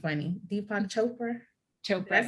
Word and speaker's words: Deepak Chopra: Deepak Chopra.